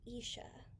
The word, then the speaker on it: Isha: kenisha sneed this is isha you say it like i sha and this is her